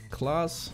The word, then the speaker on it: Klaas: maybe maybe german but i believe the correct pronunciation is class for that so we have murto